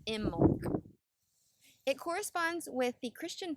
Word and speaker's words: Imbolc: February 1st and 2nd it's spelled i m b o LC but pronounced imul it corresponds with the